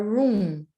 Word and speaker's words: room: yeah room i i still think daniela this that you need to like hold that m a little bit longer because it almost sounds like roo now there isn't another